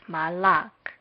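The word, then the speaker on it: מָלַךְ: It is read as malak. Now let's see what sounds the letters make. First, mem makes the M sound. Next, the first vowel, kametz, makes a long A sound. The second consonant, lamed, makes the L sound. The second vowel under it makes the short A sound. Lastly, kaf makes the K sound.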